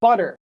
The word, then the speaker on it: butter: And then a word like butter. B U T T E R. If you have toast, you put butter on your toast. So butter on the toast. Butter. It sounds like a d, right?